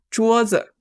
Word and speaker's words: 桌子: So in a lot of words, we will see 字 at the end of the word, and it's always pronounced as the neutral tone, so we leave it very light.